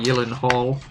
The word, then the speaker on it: Gyllencreutz: yelen hall i'm spelled it is spelled like elon hall except instead of hall it's kreitz i am spelling it as how i can pronounce it or else it will be mispronounced call it jake jake